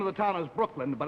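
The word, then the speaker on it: Brookeland: The name of the town is Brooklyn, but it's spelled B-R-O-O-K-E-L-A-N-D.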